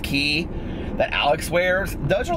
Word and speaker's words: Quay: pairs there's uh they look like Quay q u a y but I think they're pronounced key that Alex wears those